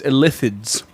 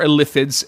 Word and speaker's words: Illithids: It is Illithids. With an emphasis on the second syllable.